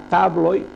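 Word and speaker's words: tabloj: Veiem que la tablo és la taula i la tabloi, les taules. Aquesta lletra té la pronunciació de i, tabloi, tabloi.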